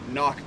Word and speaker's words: CNOC: The other thing that I use with my water treatment system is a CNOC bag, or a knock bag, if you're pronouncing it correctly.